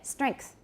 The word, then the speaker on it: strength: got it right so listen to the way i say this normally and i'm not doing this on purpose it's just the way i say it strength can you all hear the k yeah strengths strengths once